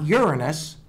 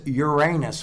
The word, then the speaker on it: Uranus: And it's not Uranus. It's Uranus, because that's the way the town pronounces it.